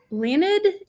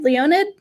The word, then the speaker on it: Leonid: going to talk to leonard in florida and i don't know if i'm pronouncing that quite right i want to make sure i am is it leonid leonid yeah you can call me leo that's the simpler uh